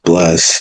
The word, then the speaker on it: 81355: So, uh the band name is Bless uh but it's spelled numerically. It's spelled 81355.